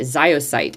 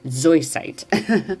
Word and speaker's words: zoisite: And a lot of times I used to say it ziosite. It is not spelled that way, y'all. It is spelled Z-O-I, zoisite.